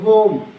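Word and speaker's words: home: और इसी प्रकार से एच ओ एम ई होम एच ओ एम ई होम ई साइलेंट होगी यहां पर क्योंकि यहां पर डबल साउंड वोवेल है।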